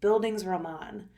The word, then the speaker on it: bildungsroman: Google and you do the word thing it's bildungsroman so you are familiar with this type of